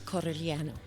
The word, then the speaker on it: Corigliano: No, it's Corigliano. See, and I can't do that. But nobody says that. I can't do that. Well, my sister-in-law yells at all of us because we don't even say it right.